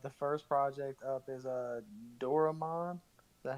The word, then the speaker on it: Doraemon: I'm probably gonna say this wrong, but the first project up is Doraemon. Is that how you say it? Doraemon, yes.